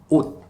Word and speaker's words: 옷: em coreano, que é ot. Ot. Tá vendo que a gente não fala ot, nem ot, ok? Mas é um T que fica engasgado, né? Então, ot tem som de T.